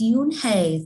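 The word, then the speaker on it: Unhei: no no unhigh corrected it's spelled you n h e i it's pronounced my oh it's yoon hey the boy said like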